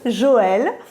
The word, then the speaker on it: Joël: And its name is Joël, if you want to pronounce it like a French person, Joël.